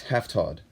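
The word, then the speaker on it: هفتاد: right side up V that's half Todd and yeah that's the Todd is the transition to the number behind it like half Todd odo half Todd oh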